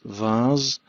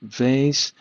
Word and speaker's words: vase: say this word and in British English it's Vaz and in American English it is vase and I'm gonna avoid